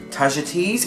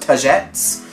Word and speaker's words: tagetes: It's got saffron, tulsi, lime, tagetes, which I learnt recently is not pronounced tagettes, curry leaf, turmeric, spikenard, olive oil and vetiver.